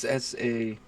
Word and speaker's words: san: It's SAHN. Son. Or S-A-N in the Americanized Man, pronunciation.